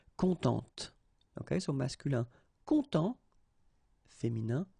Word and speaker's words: contente: Of course, if you put the feminine form, then you will have to add this and then phonetically it will be a bit different. It will be contente.